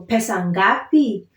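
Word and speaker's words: pesa ngapi: in how much so pesangapi how much so I'm trying to stress on the last syllable because it's a question how much okay the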